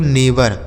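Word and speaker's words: neighbour: पढ़ने पर ध्यान दीजिएगा देखिए इसका स्पेलिंग कुछ अलग तरीके से लिखा गया है लेकिन इसे पढ़ा कुछ और जाता है इसे क्या पढ़ा जाता है नेवर नेवर का हिंदी अर्थ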